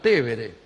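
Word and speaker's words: Tevere: En realidad el río se llama Tébere. Nosotros le decimos Tíber aquí.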